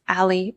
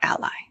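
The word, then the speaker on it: a11y: a and Y and it's commonly pronounced Ali or Ally and overlay widget is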